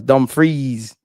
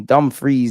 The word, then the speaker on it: Dumfries: Freeze, not fries. Dumfries. Pronunciation, please. On to me. Dumfries.